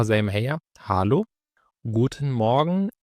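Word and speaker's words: Guten: زي ما هي هالو جوتن مورجن الجي في الالماني او الحرف زي الجي كده في الانجليزي بيتنطق جامد يعني ما بننطقش جي ولكن دايما جي اللي هو زي الجيم فدي تبقى مثلا جوتن او لو انت اخدت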